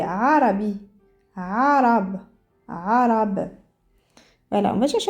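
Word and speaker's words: عربي: on écoutant tout doucement quand je dis Arabi et arabe c'est pas la même chose Arabi arabe alors le vrai modo arabe c'est Arabi Arab arabe voilà on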